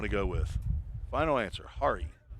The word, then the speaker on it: Hari: Hari, not hair.